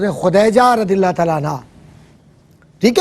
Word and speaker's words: خدیجہ: کا نام تھا حضرت خدیجہ, اور صحیح لفظ تلفظ ہے خدیجہ رضی اللہ تعالیٰ عنہ, ٹھیک ہے.